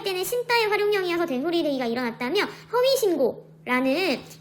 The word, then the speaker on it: 허위신고: 이때 니은과 기역은 어간과 어미의 관계가 아니어서 이 기역이 된소리대기가 일어나지 않고 그대로 허위신고라고 발음해야 되고요.